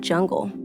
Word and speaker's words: Jaeger-LeCoultre: changed that much is people mispronouncing the brand name, which is... - "Jaeger-LeCoultre." - Are you sure, are you sure it's not "Yaeger?" - I'm fairly certain.